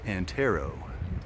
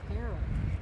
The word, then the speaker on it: Antero: Mount Antero. Antero.